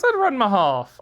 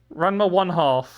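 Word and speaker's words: Ranma ½: Yeah, I said Ranma Half. I mentioned Ranma Half. Is that not how it is? Is that not how you say it is? Say it? I don't know. Ranma 1/2. I see. I've learned things today.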